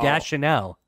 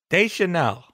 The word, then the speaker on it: Deschanel: a Zoe Deschanel. Almost. Again, no. She reminded me of an English proxy for Rashida Jones, personally. I just want to point out, you're still saying her name wrong, Gordo. Deschanel.